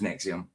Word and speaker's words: NXIVM: sort, but not necessarily Nexium. It was spelled NX IVM, the old way for spelling you in in English. So, it's it's in the title NXVM, which is just pronounced Nexium.